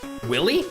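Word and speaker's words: Wily: Willy. Oh, in Spanish it's Willy. Dr. Willy, not Dr. Wy.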